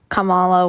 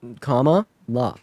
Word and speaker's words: Kamala: Kamala, whatever. No, comma, la.